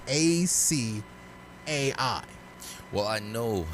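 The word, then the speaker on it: açaí: they pronounce it improperly so how would you pronounce a c a i well i know how people pronounce it but it's really pronounced acai i would see that word and i would read it as a kai yeah that's how everyone pronounced it i would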